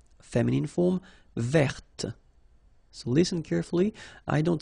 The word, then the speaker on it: verte: Feminine form, verte. So listen carefully. I don't say te, but it's t. Verte. Verte. Okay, so as usual, this final E only gives you the possibility to pronounce this t, t.